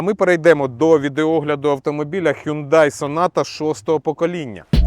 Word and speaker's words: Hyundai: легкових автомобілів і позашляховиків Ми звикли що у нас назва компанії вимовляється як Hyundai але самі корейці вимовляють її як hyunda і оця стилізована буква